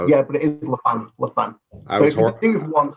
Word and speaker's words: Laffan: So it's always, everybody's always kind of pronounced it Laffan or Laughing.